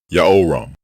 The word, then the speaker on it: Jehoram: the prefix diminished form both forms are pronounced the same way yao ram yaoram and his name means yao is exalted the correct way